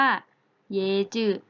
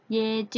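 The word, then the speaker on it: 椰子: คะ แปล ว่า มะพร้าว มะพร้าว ใน ภาษา จีน น่ะ จะ พูด ว่า เยอะ จืด เอ้อน้อง ศรี ให้ เรา ซื้อ ฟัง หน่อย ค่ะ มี ไฟ ฉาย ไฟ ฉาย หาว ค่ะ เยจิ นะ คะ มา พร้าว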